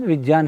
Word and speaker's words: विज्ञान: अच्छा, तो शुद्ध उच्चारण विज्ञान है, विज्ञान।